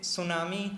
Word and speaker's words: tsunami: Ma'am, in English we say tsunami, like it is TSUNNAMI.